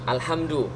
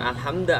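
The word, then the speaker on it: الحمد: kalimat berarti bacanya alhamdu alhamdu alhamdu karena Isim lalu kemudian di awal kalimat bacanya alhamdu bukan alhamda atau alhamdi Kenapa lillahi lillahi Kenapa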